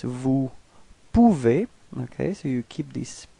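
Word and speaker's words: peux: Second person to to P. So you can see that it's exactly the same way of writing it and exactly the same of pronouncing it. You don't pronounce the final X. So it's P.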